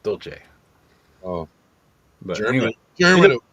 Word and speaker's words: Dolce: Well, in Italian that would be pronounced Dolce.